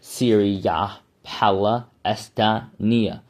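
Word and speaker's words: Syria Palaestina: Now, from 400 BC, many pro-Palestinians argue that the Romans named the land, quote, Syria Palestina, Syria Palestania, if you want to pronounce it correct.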